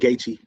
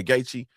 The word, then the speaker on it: Gaethje: Yeah, that's the main event, Gaethje. Okay, yeah, Gaethje.